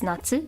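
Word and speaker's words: 夏: there's oh wait goes like this that's Natsu summer also pronounced cotton get this is Autumn Aki or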